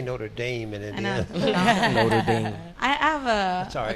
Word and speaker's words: Notre Dame: Notre Notre Dame yeah say not notame we say Notre Dame and I have a